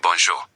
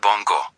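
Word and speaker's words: bonjour: That sound shows up in bonjo, not bongo. Bonso. If you say bongo, French speakers hear it.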